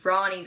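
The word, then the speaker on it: Roni's: Anyway, he goes to the bar, and it's Ronnie's, which is spelled Roni, like macaroni.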